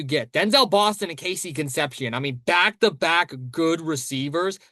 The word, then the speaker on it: Conception: Yeah, they're going to say Conception and I'm going to be like, "No, it's Conception."